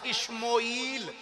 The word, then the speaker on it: اشموئیل: انہاں دا نام حضرت سیدنا اشموئیل, الف شین میم واو حمزہ یا اور لام, یہ دو تلفظ نہ پڑھے جا سکتے. شموئیل بھی پڑھ دینے, اشموئیل بھی پڑھ دینے, اشموئیل بھی پڑھ دینے.